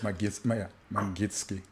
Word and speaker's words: Magnitsky: I'm pretty sure I butchered the pronunciation of that. Yeah, it's Magnitsky.